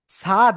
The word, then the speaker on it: ص: সাদ নাকি সদ?